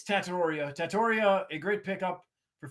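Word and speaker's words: Tetairoa: It's Tattoriia.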